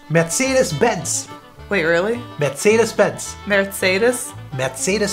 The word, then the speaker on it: Mercedes-Benz: think it sounds so but the actual name is matheus matsyas bents wait really betsy dispense